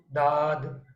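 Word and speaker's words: ضاد: दांतों के पीछे, लेकिन जब हम दौद बोलते हैं तो कैसे प्रोनाउंस हो रहा है? Side of tongue is touching to your molars. If you want to do from right side or left side, choice is yours, but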